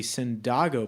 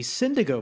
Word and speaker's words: Cyndágo: if you're wondering why it's called the Cyndágo podcast and not the Cyndago podcast, well, that's because a lot of our friends think the first time we talked to them about Cyndago, they assume that it's pronounced Cyndago.